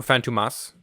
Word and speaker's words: Fantômas: on Glenn um well the phantomas or phantomas to say it correctly um is a I